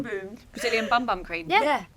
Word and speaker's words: Bum Bum: boom cream thank you spelled bum bum which I much prefer actually but you say it boom boom boom boom Brazilian bum bum cream